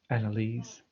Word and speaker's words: Annalise: So Annalisa, do you pronounce the E on the end of your name, or is it just Annalise? Annalise. Okay, cool.